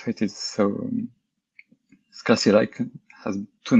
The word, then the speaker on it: CLI: So I'm going to pronounce it Scala CLI, as it's an English acronym for command line interface. But some people, I mean, you might hear it pronounced Scala CLI with the French E, CLI.